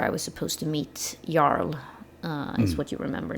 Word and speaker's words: Jarl: Um and Nora is like oh right that's where I was supposed to meet Yarl uh is what you remember now or Jarl is the English way of saying that.